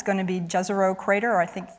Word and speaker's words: Jezero: it's going to be jezero crater I think I'm told the correct pronunciation is yero crater um which is a